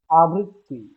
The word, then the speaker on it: আবৃত্তি: উচ্চারণ আবৃত্তি আবৃত্তি আমার শুনতে হবে উচ্চারণটা কেমন হবে আমারটা শুনতে হবে আবৃত্তি আবৃত্তি আবৃত্তি আমি কখনোই এখানে বের দুইটা উচ্চারণ করি নাই আবৃত্তি আবৃত্তি